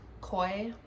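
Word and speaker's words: Coy: Oh yeah, Koi. So Manchi's middle name is Koi, but it's spelled C-O-Y.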